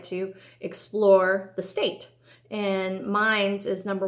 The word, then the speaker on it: Mainz: It looks like Mainz, M-A-I-N-Z, but it's pronounced Mainz.